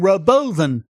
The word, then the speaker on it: Robovan: and an amazing looking Roven spelled Robo van but that's not how he pronounced it an autonomous bus that